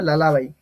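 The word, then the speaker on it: lullaby: যাই হোক মানে ব্যাপারটা এটার উচ্চারণ হয়ে যাবে লালা ভাই এল U double L এবি লালা ভাই ঠিক আছে লালা ভাই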